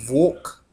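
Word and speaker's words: волк: In Russian, I mean, which is it is pronounced volk, although it looks bonk.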